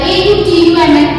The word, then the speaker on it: autumn: Like A U T U M N, autumn, autumn, not N, न की sound नहीं आएगी पीछे, autumn, okay. C O L U M N, column, column only, column.